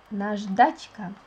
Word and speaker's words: наждачка: It is pronounced like наждачка. It is like this.